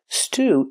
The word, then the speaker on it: stew: Stew is a kind of soup. It usually has beef, potatoes, and other vegetables. Pronunciation, stew, using the long oo sound.